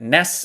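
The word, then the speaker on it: NEHS: uh he goes by official n-e-h-s you pronounce that ness it's n period e period h period uh s and then you can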